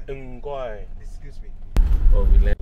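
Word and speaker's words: 唔該: Mgoi. Mgoi. Excuse me. Well, we learned a bit of Cantonese in the car. An amazing driver. Mgoi.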